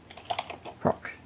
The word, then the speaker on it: proc: we need to create so we'll do pin proc is how you say it's a function uh